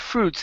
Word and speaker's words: fruits: Now, in the word fruits, the I is not pronounced. So instead of saying fruits, it's fruits. Fruits.